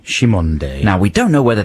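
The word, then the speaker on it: Cymande: earlier apparently is called uh their name is pronounced shimonde shimonde now we don't know whether that's right but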